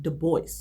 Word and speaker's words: Du Bois: So, I actually looked it up this time and it turns out it is pronounced doce. You actually do pronounce the S.